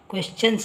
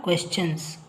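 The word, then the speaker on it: questions: play in the evening ನಾನು ಈಗ ತಾನೇ ಹೇಳಿದೆ ಟಿ ಐ ಓ ಎನ್ ಅಂದಾಗ ಶನ್ ಅಂತ ಉಚ್ಚಾರ ಮಾಡಿ ಅಂತ ಆದ್ರೆ ಇಲ್ಲಿ ಎಸ್ ಬಂದಾಗ ನಾವು ಏನಂತ ಉಚ್ಚಾರ ಮಾಡಿದ್ವಿ ಕ್ವೆಶ್ಚನ್ಸ್ ಅಂತ ಮಾಡಿದ್ವಿ ಇಲ್ಲಿ ಎಸ್ ಟಿ ಐ ಓ ಎನ್ ಎಸ್ ಜೊತೆ ಎಸ್ ಬಂದಾಗ ಚ ಅಂತ ಬರುತ್ತೆ ಉಚ್ಚಾರ ಕ್ವೆಶ್ಚನ್ಸ್ ಆಯ್ತಾ ಐ ಲರ್ನ್ ಎ ಲಾಟ್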